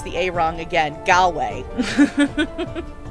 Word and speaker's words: Galway: pronounce the a-wrong again galway there we go there we go rhymes with hallway for some reason okay